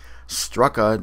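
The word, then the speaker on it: Starrucca: in our Northern regions whose pronunciations bear little resemblance to their spelling since strua looks phonetically like Stuka equino like equinunk and chug nut looks like choconut where famed Aviator Charles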